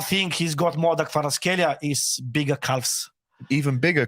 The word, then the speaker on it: Kvaratskhelia: Say again? Kvaratskhelia. That is a brilliant pronunciation.